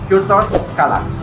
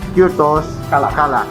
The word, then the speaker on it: Kürtös Kalács: So Andre, how do you pronounce it again? Kürtös Kalács. Again? Kürtös. Kürtos? Kürtös Kalács.